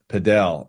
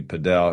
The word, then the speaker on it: padel: you spell it but they they pronounced it down in Miami padel and then I saw